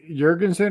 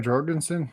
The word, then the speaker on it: Jorgensen: so would i uh jurgensen or jorgensen however you want to pronounce it i think they have